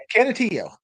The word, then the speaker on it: Canutillo: Canutillo.